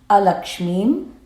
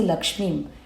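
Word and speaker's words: अलक्ष्मीम्: Don't say lakshmim. It is alakshmim nashayamyaham. Words, if not pronounced properly, can have a different meaning. If we read jeshtham lakshmim nashayamyaham, it means we are destroying Lakshmi within us. Here we are saying kshut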